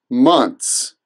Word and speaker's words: months: as months months but the average American just says months it rhymes with once once months once months